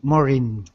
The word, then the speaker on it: Maureen: wonderful well i'm maureen my name is kind of tricky to pronounce but it's like the word more in more in more maureen perfect perfect um so